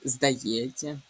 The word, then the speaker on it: здається: У слові здається відбувається уподібнення за місцем і способом творення. Що це таке? У вас у реч у цьому слові є тіся. Оце е у вимові тіся перетворюється на на ці м'який і на а. Отже, тут звука тнь чи точніше не буде, а буде ця, здається.